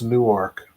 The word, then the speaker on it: Newark: It's Newark, okay? Whether you're in Newark, Ohio, Newark, New Jersey, or Newark, Delaware, it's all the same, okay? What are you doing, D-Rail? You working or are you home? Spelled the same, sounds the same.